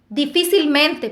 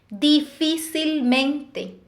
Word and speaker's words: difícilmente: Son aquellas palabras que tienen la mayor fuerza de voz en la sílaba anterior a la antepenúltima sílaba. Es decir, en la cuarta sílaba. La sílaba número 4 comenzando desde el final.